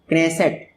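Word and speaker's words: Knesset: क्नेसेट। देखिए नेसेट है लेकिन के से स्पेलिंग शुरू होती है, नॉलेज जैसा।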